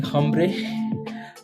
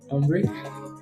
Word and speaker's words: hombre: Is hombre, hombre. I think the H in hombre is silent.